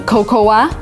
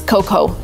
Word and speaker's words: cocoa: I've heard a lot of Americans saying cocoa, when in reality it is cocoa. A in the end, we just don't read it.